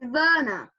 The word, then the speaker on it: Werner: what is that it's warner sweats one it's verna it's pronounced it's spelt werner but it said verna my other club is